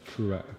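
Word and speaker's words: Truax: James DeGALE in action this week against Caleb Truatt. Yeah, that's how you pronounce his name. Say again. Caleb Truatt. That's it. Yeah, that's it.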